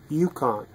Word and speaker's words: Yukon: And how do you pronounce it? Yukon.